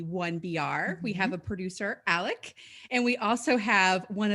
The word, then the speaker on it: Alok: Just for the record, it's Alok. It rhymes. Oh, okay. It rhymes with joke or smoke.